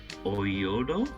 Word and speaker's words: Oyodo: base as i see a tone mogami and oyodo that's how you say it they all became